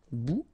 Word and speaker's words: bout: Remember, final T not pronounced. Un bout.